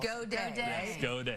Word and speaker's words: Gaudet: And go day. When you told me that yesterday is the way to pronounce his name, I said.